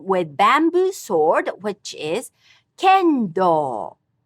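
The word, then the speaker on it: 剣道: Same pitch for the traditional martial art of fighting with bamboo sword, which is kendo, kendo. The art of traditional calligraphy is shodo. All these have high-low pitch accent.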